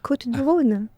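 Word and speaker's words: Côtes du Rhône: How am I mispronouncing it? Côte de Rhône. See, you're just doing a good job. C'est Côte du Rhône. Côte de Rhône. Côte du Rhône. Yeah. Yeah, it sounds better when the French say anything.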